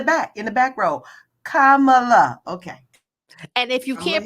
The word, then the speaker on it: Kamala: people in the back in the back row Kamala okay and if you can't pronounce it you probably need to go back